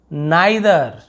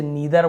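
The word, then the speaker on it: neither: फिर kaleidoscope, kaleidoscope, नाइदर, इसे नीदर बोलते हैं ना, नाइदर।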